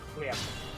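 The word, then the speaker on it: хлеб: Like phlegm, H-L-Y-E-B. Chleb. Chleb. Chleb.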